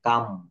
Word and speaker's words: calm: এল plus M পরপর থাকলে এবং পরে ভাওয়েল না থাকলে এল অনুচ্চারিত থাকে, যেমন CALM, এখানে এল সাইলেন্ট লেটার, কাম। এটা কিন্তু আমরা অনেকে ভুল করে ক্লাম বলে বেশি, নো, এটা কাম।